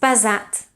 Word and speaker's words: pesat: Pes is pronounced with an S, whereas pesat is pronounced with a Z.